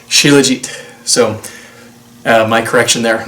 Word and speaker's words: shilajit: it wrong in my previous video it's not shilajit it's technically pronounced shilajit so uh my correction there now after um